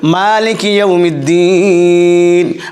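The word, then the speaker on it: مَالِكِ يَوْمِ الدِّينِ: রহমানির রাহিম এবার দেখুন মালিকি ইমিদ্দিন মা টানতে হবে একই আমরা বলছি মালিক ইউমিদ্দিন যিনি মাস্টার অফ ডে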